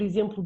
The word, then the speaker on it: exemplo: Então este EX do início vai praticamente desaparecer, mas eu vou, por exemplo, dizer táxi com que, ok? E eu vou dizer também exemplo com z.